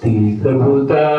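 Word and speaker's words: तीर्थभूताः: Bhavadvida Bhagavata Bhavadvida Bhagavata Tirthabhuta T is long and Bhu is also long. Tirtha Bhuta Tirtha Bhuta Swayam.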